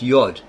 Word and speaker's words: yod: Likewise, John Poris in his commentary on Matthew just jot in the Greek iota signifies the Hebrew letter iod pronounced yod tit in the Greek horn denoting a very slight projection at the corner of certain Hebrew letters emphasis added.